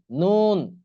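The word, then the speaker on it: ن: মাখরাজ নয় নাম্বার মাখরাজ জিহ্বার আগা তার বরাবর উপরের তালুর সঙ্গে লাগাইয়া উচ্চারণ হবে কি নুন জিহ্বার আগার উপরের যে তালু আছে তার সঙ্গে লাগাইয়া নুন নুন এরপর আসুন 10 নাম্বার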